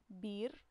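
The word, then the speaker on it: بئر: example, it would be Bir, but with an Hamza on it, it's Bi'r, Bi'r. It's a bit difficult to pronounce, Bi'r, because it's a sukun on it.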